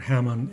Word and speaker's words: Hamon: Let's try to settle another debate about how the word Hamon is pronounced. Keep in mind that the Japanese language is monotone, meaning all the syllables are pronounced equally, with the same strength.